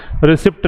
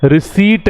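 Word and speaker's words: receipt: रिसिप्ट नहीं है, क्या है? रिसीट है।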